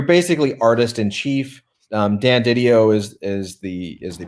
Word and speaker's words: DiDio: you said it D video video yeah Dan DiDio I mean that's the way I've always pronounced it so when when video was was